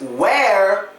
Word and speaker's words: where: well let let me tell you how they're pronounced it's where were and we they are all completely different